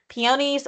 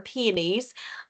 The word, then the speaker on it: peonies: step at a time peonies which are my favorite or penies um whichever way you want to pronounce it um grow through